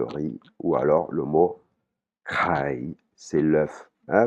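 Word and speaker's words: ไข่: ou alors le mot kai, c'est l'œuf. Hein, vous entendez la différence entre, par exemple, la poule, kai, et l'œuf, kai, kai. C'est pas la même prononciation.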